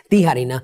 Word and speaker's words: Tijerina: could know my name my last name in english is tiarina in spanish it's tiharina and you might know